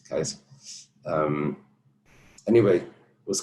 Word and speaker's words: Caesar: In Old Greek, they didn't have a C that was soft. Kikero. It wasn't Cicero, like we say. They had everything was hard. Kaiser, we say Caesar. It's Kaiser.